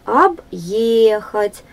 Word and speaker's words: объехать: Объехать. Ударение на второй слог.